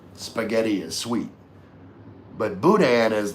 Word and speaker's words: boudin: hell that word was, it's pronounced boudin. Boudin. Looks like it would be like Bowden, but no, it's boudin.